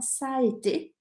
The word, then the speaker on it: ça a été: que é a expressão ça a été, ça a été. Olha a pronúncia disso, já escrevi aqui no YouTube e no Facebook. Ça a été, tem dois A's, né?